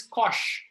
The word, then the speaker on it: cosh: Okay, pronunciation is cosh.